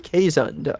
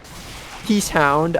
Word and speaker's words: Keeshond: Not a lot of people know how to say it, which is fair because it's a rare breed of Dutch dog. I butchered the last name. Most people do. Most people say Keeshond or Keeshond. I've heard a lot of Keeshhound.